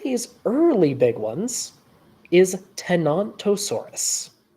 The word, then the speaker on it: Tenontosaurus: but one of these early big ones is tenontosaurus not f tantur yes not a thesaur t